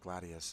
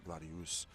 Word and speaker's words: Gladius: Gladius is actually how that's pronounced. That's Gladius.